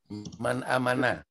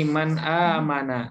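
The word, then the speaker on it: مَنْ: Misalnya kalau ada min kalimat seperti ini tapi setelahnya kasrah, nah berarti bacanya min itu bukan man. Nah, sementara kalau man ya sesudahnya biasanya adalah fiil. Contoh ya, man amana.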